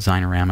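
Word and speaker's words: Xinerama: That's called Zynorama, and spelled with an X, X-I-N-E-O-R-A-M-M-A.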